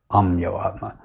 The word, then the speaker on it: Ameyatma: And when I told them my name, Amiyatma, the 2 Bengalis couldn't understand. So I wrote it down. And then they saw how it was written. They pronounced it exactly as Srila Prabhupada said, saying, Amyo Atma.